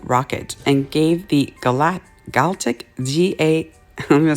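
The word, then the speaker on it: GALCIT: developing the V2 rocket and gave the galat galtic ga let me spell it g-a-l-c-i-t rocket research group now without Parsons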